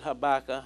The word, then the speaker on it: Habakkuk: issues styrene at at Habakkuk chapter 3 some pronounce it Ibaka Habakkuk Ibaka you get